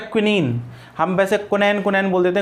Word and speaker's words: quinine: उस वक्त जब आपकी क्विनीन का आविष्कार हुआ था, ठीक है ना, जिसको आप कुनैन बोलते हो ना, एक्चुअली वो क्विनीन होता है, QUININ, इसकी स्पेलिंग